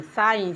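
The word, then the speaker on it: sign: उसी तरह से एस आई जी एन साइन साइन means हस्ताक्षर उसी तरह से है एफ ओ आर ई आई जी N foreign foreign means विदेशी सब में जी साइलेंट है इसी तरह से जी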